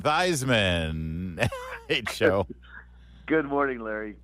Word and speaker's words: Theismann: one and only Joe rhymes with Heisman thyman Hey Jo good morning